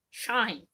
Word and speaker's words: Schein: So he's comparing a real world example with sort of an artistic interpretation example on what he says in German is Schnein, shine.